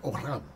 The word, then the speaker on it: olam: language is the word olam, olam. And now we would spell it O-L-A-M, olam, okay? And now we, in English, we would say olam, okay? But it's olam.